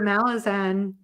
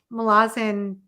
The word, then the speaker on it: Malazan: I camped out in your Malazan, I keep saying it wrong now. Malazan section of your Discord, like the whole time I was reading the series last year.